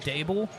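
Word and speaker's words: Daboll: pronunciation check on Brian Dable? It's Dable. Dable. I thought it's Dball. It's Dable. Dable. It was day ball before the weight loss. Now it's day ball. It's never been day ball.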